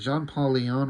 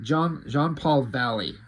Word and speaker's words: Jean-Paul Valley: I'm Jean-Paul Valley. What the fuck was I saying? Jean-Paul Leon?